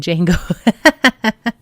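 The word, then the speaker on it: Django: Oh, and Jango. The D is silent.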